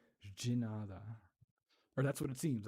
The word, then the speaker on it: de nada: And so in Spanish, it would be de nada, but in Portuguese, it's j. The D, E, or the D, the letter D is pronounced j. J. De nada.